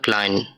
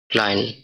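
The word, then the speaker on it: klein: এরপরে পরে আমরা দেখতেছি ওয়ার্ডটা আছে কা দিয়ে, ওয়ার্ড এটা ক্লাইন অর্থ ছোট বা স্মল। এটার উচ্চারণটা হবে কা এল এ ই এন, ক্লাইন অর্থাৎ ছোট বা স্মল।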